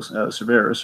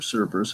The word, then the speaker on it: Cerveris: and I'm familiar with, Michael Cerveris, or Cerberus, however you want to Yes, pronounce it. yes. So, Professor Pig from Calls him Gotham. Cerberus, so I'm going to go with that because he's actually seen the man live.